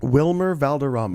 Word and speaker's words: Wilmer Valderrama: Wilmer Valderrama.